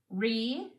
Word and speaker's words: reuse: In this second syllable, that E told me to say U, one of the long U sounds for that letter U. That's why the E and the U can be in the same syllable because they're working together to make one vowel sound.